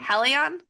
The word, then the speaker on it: Helion: I just want to make sure I'm pronouncing it correctly. Helion?